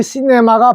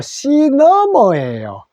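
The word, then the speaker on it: cinema: 영어로는 시네마가 아니고 시너머예요. 요거는 C는 그대로 읽는데, 요 E에서 E가 소리도 납니다.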